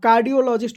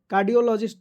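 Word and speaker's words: cardiologist: ठीक है, आप कार्डियोलॉजिस्ट को समझिए। कार्डियोलॉजिस्ट, तो कार्डिया आप कहिएगा कि सी से शुरू होता है, यहाँ पे आप के कर दिए हैं, तो ऐसा नहीं होता है।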